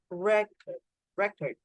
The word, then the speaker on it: record: There's a quotation mark, one quotation mark in front of re, so it's the stress, record. Okay. In the verb, the quotation mark moves to the second part. You can see this small thing. This is the quotation mark that indicates the stress.